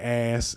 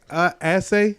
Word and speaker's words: Ashe: I said it wrong. I said ass, and I know I was making an ass of myself. Let's get into this. Ashe. Ashe. Ashe. You know how you say amen? Yeah.